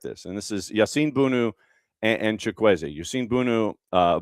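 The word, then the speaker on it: Bounou: And this is Yasin Bunu and Chquzi. Yusin Bunu. Uh, Bono, it's Bono technically, but it's spelled B O U N O U.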